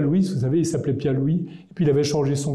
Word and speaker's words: Pierre Louÿs: se marier avec Louise il dit il y a un truc qui m'embête là quand on parlera de ma femme on l'appellera Louise Louise ça fait mauvaise rime ce qui n'aurait pas de sens si il s'agissait pas d'une prononciation en is donc je pense qu'on peut continuer à dire pierre Louise Louise sa femme en